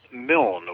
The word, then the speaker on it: Milne: Well, John, to put the record straight, my last name is pronounced Milne with a silent E. Think A.A. Milne, Winnie the Pooh.